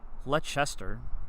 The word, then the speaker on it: Leicester: From Leicester, Massachusetts. Massachusetts, that area around Boston. A lot of pronunciation with those cities that don't match the spelling in the cities, but you know what?